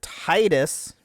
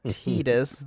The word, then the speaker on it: Tidus: So, we are going over Titus, not Tetus. Like, apparently, what's it supposed to be, but it's Titus. I am sorry if that offends you or you get upset about that, but it's that's how I see it.